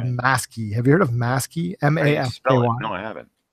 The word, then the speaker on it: Masky: Maskey. Have you heard of Maskey? How do you spell it? MASKY. No, I haven't. Like mask with a Y on the end.